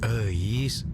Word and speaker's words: Euis: Namanya Euis. Eis. Itu tuh nama Sunda, bro. Dibacanya Eis.